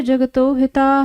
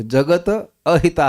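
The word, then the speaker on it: जगतोऽहिताः: ये अ भूल नहीं जाइएगा कि नहीं, आपने प्रोनाउंसिएशन ठीक से बोला, मैं बोल रहा हूँ जगत हिता नहीं है, वो जगत अहिता है, वो अहित के लिए कार्य करते हैं।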